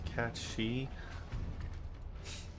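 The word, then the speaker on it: Cait Sith: Sith is an Irish folklore character and is pronounced cat shei the pronunciation was a bit the pronunciation was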